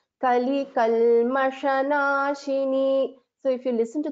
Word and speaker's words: कलिकल्मषनाशिनी: Only thing is you have to distinguish between this Shankara Sha and Sha, this Sha, which is in green. Kali Kalmashanashini.